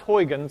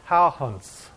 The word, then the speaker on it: Huygens: So the first clocks were made by this guy, pretty boy, Christian Huygens, okay? It's not pronounced Huygens, it's pronounced Huygens is the proper way to say it.